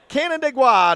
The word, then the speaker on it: Canandaigua: It's almost like Canada, but not quite. Canandaigua.